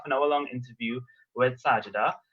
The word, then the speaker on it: Sajidah: having a half an hour long interview with sajida it's agita right that's how you pronounce it yes yes perfect okay great fantastic so we'll be having our interview with sajida and then after we'll do the Q&A but